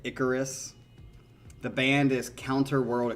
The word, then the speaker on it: Icarus: So, all right, this song is called Icarus, I think is how you say it, Icarus.